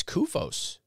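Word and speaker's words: CUFOS: Several weeks later, according to a letter from a witness published in the SUFOS associate letter, this C-U-F-O-S, so like MUFON, but SUFOS. The witness, or maybe it's KUFOS, hard C.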